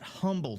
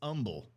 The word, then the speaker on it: Humble: And I learned how to say it's not Humble, Texas. It's Humble.